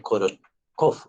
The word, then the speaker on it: Korotkov: ruidos o sonidos de Korotkov. Como es de un ruso, pues que se escribe es con K, con una T intermedia para que diga el Korot, y después TK con O y doble F.